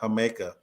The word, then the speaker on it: jamaica: spelled Jamaica in Spanish you pronounce the J with a ha like a h sound um so the drink if you see it in in Mexico is it says Jamaica but it's pronounced Jamaica and it's the same